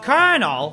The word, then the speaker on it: Colonel: charm in my voice, my name is Colin O'Hara. Well, it's Colonel. What? Really? Why is it spelled like that then? My name is Colonel Harlan Sanders, and I'm